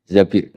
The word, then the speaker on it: Zabir: hadis ini bukan Mbak Bacanya bukan Zubair tapi Zabir.